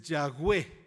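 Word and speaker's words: Yahweh: verbo ser y literalmente Aunque nuestra Biblia dice Jehová lo que utilizó Dios es yagüe así es como lo pronunció eso es lo que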